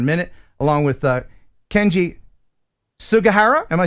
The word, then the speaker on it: Sugahara: We'll talk about that here in a minute, along with Kenji Sugahara. Am I saying it right? Sugahara.